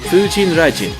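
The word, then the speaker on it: 風神雷神: featuring nana takahashi and 709 sec is actually pronounced fujin rajin part of kamineri furyuu fuji is the god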